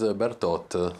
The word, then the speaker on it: Bertot: We say BERTOT like the French, I suppose. Is that the proper way to pronounce it? No, my correct name is BERTOT. BERTOT, oh, there you go. BERTOT, with the T at the end.